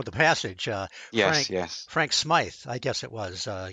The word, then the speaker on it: Smythe: Frank Smythe, I guess it was. I guess that's the way you pronounce his name. He saw. Smythe, yeah.